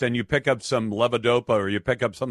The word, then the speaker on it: levodopa: I want you to tell my audience about levodopa, if I'm saying that right. Yes, you're pronouncing that correctly.